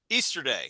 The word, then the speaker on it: Easterday: Easterday. Just like the holiday, my dude.